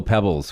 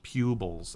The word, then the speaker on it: Pubols: only always called me and it's the only difference is this i don't know what that's called in in the english pronunciation guide or whatever bits its pupils not right so i don't